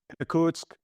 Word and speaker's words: Irkutsk: But you did spend time in, is it Irkutsk? No, how'd you pronounce it? Irkutsk.